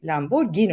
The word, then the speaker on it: Lamborghini: de Lamborghini bu vesileyle doğrusunu yazalım Lamborghini imiş arkadaşlar araba otomobil Lamborghini okunuyormuş G ile Aynen aynen öyle bak